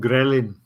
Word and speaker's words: ghrelin: How do you spell that hormone ghrelin?